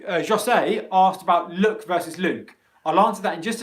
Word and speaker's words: Luke: short u vowel sounds so luke which is a name in english luke luke luke is a long o vowel sound luke luke luke look is a short english vowel sound look look look so